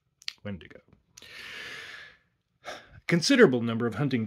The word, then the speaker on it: Wendigo: Now, you may have heard that word pronounced Wendigo, which would be correct if the word were Spanish in origin, which it is not. Wendigo.